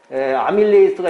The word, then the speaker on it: 아밀레이스: 녹말은 침 속에 아밀레이스가 있죠. 아밀라제라고도 하는데, 라제. 이것이 엿당으로 바꾸는 거예요. 우리 침 속에 아밀라제가 있어요. 원래 이제 우리나라식 발음은 아밀라제지만 영어는 아밀레이스라고 하죠.